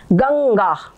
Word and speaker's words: गंगा: ये गंगा ठीक है ये वाली जो बिंदी है बिंदी के बदले में आधा ग लिखा हुआ है ठीक है गंगा तो ये हो गया